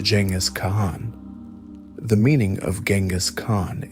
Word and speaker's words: Genghis Khan: It was at this moment that he was bestowed with the great title that would echo through history, Genghis Khan, pronounced Genghis Khan.